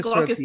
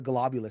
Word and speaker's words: Glaucous: And then the other one, which I mispronounced. The Glaucous Sun. The Glaucous Sun. I called it the Globulous Sun.